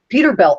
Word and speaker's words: Peterbilt: It was always, it wasn't spelled like Bilt, B-U-I-L-T. It was Peter and then Bilt, B-I-L-T.